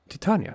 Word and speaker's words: Titania: we're gonna take a look at titania titania titania that's how you pronounce it um because you know when i